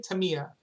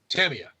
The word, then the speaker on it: Tamiya: i used to say tamiya in fact i still say tamiya but i found out that that is incorrect it is actually tamio tamia tamia all right so